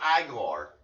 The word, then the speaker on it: Igor: Igor. It is way. It's pronounced Igor.